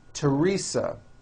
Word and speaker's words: Teresa: spelled with a th they are pronounced as if they were spelled with a normal T like that and these words are Thomas Thompson Teresa Thailand Thames like the